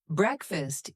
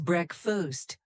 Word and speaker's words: breakfast: Another pronunciation note, breakfast is said as breakfast, not break fast.